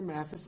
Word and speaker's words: Mathis: Mathis. Mathis is spelled M-A-T-H-I-S, III.